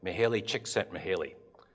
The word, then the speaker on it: Mihaly Csikszentmihalyi: often and I know how to say it Mihaly Csikszentmihalyi it's complicated spelling to both of the authors